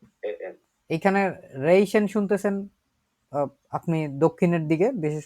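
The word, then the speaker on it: riechen: বেশি ব্যবহার করি কারণ এখানে খুব সুন্দরভাবে অনেক উচ্চারণ দেওয়া আছেন একটু অদ্ভুত না রেইশন রেইশন রেশন মানে কি এই দেখেন মানুষজন ঘ্রাণ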